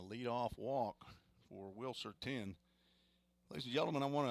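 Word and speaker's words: Then: two strikes to Wilson 10 t-h-e-n pronounced like the number 10 breaking pitch misses inside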